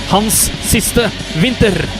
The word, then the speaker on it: Hans siste vinter: Correct pronunciation of this song in Norwegian, or what do I pronunciation? The way it's supposed to sound, if you wanna say the song title, is Hans siste vinter.